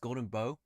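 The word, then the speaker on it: Golden Bough: It's pronounced Golden Bow.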